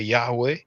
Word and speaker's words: Yahweh: of God in Hebrew most people say Yahweh some Scholars argue maybe I've been pronounced Yahoo so like I said